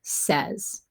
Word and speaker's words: says: is the word says this word has three sounds and if i listen to it it sounds like it's doing this now the s is behaving how i would expect it to but that e sound that i'm hearing in the middle is actually being made by a y right this word is